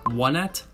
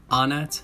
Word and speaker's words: Onett: name in the industry these three pronunciations are one at anat and onet so let's just go